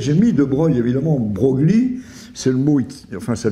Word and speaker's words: Broglie: dû le mettre j'ai mis de Breuil évidemment Brogli c'est le mot enfin ça vient de l'Italie c'est pour ça qu'on prononce BR mais en fait il y a